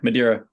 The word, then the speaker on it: Madeira: to Madeira um am I saying it right Madeira yeah Madeira okay um so prior to Madeira what would